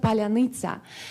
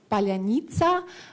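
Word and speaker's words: паляниця: Even Russian-speaking Ukrainians can say this word, palyanytsa. Russian can say this in this way, like palyanytsa. They cannot like this soft, hard syllables. It's like not so easy for them, but in Ukraine it's really easy.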